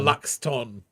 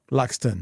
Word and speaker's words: Luxon: Oh, Luxton. Luxon with a T, which is how everybody mispronounces Luxon's name.